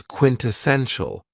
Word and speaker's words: quintessential: very cool adjective is quintessential and this word has four syllables and the stress is on the third syllable quintao when we say